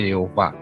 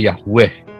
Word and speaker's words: Yehova: Oppa Allah kita jadi yang benar itu bacanya yova kalau teolog-teolog Amerika Dia membacanya Yahweh ya Kenapa karena ada transliterasi